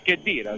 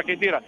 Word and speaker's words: Cheddira: cheddira sembrava potesse calciare anzi cheddira si pronuncia cheera sembrava potesse calciare è